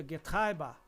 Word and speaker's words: Getriebe: Se pronuncia Getriebe em alemão, que significa transmissão.